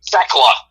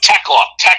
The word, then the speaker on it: Thekla: Now, is this Thekla or Thekia? I can't read it. Thekla. No, Tekla. The H is silent.